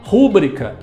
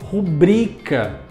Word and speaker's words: rubrica: Muita gente fala rúbrica, como se ela tivesse acento e fosse proparoxítona. Mas a palavra não é acentuada e é, portanto, paroxítona. A sílaba tônica é a segunda, bri. Então eu não falo rúbrica, eu falo rubrica.